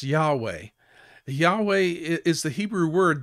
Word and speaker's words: Yahweh: are represented in hebrew by the consonants yh and wh and pronounce yahweh yahweh is the hebrew